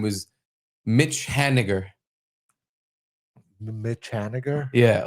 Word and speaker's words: Haniger: Like Hani Ger. I don't get it. Well, he just when the announcers would say his name was Mitch Haniger. His last name is basically the N word. Ha. N word. Oh. Oh, I got like vinegar. Yeah, like that.